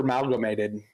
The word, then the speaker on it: amalgamated: I always thought there was an A between the R and the M. You've been using that? It's not super amalgamated?